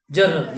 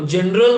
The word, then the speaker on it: journal: जर्नल याद रहे please topic का नाम जर्नल स्पेलिंग जे जे से हां आधे लोग आते हैं कलाकार और क्लास में पूछ लेना जी ई शुरू हो जाते हैं वो जनरल बोल रहे होते हैं क्या नाम